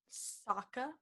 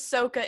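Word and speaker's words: Sokka: pronounce his name wrong soccer soccer see i was going to say soca again no one ever says soka in the show i don't know why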